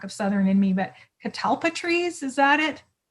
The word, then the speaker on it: catalpa: see the lack of southern in me but catalpa trees is that it catalpa yeah i say it right talpa i'm almost